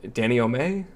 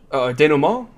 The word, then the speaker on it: denouement: Danny O'May? I don't know if that's how it's pronounced. Like a slowing down, a sort of a Denouement? denouement. Yeah, that's what I meant to say. I think that's how you say it.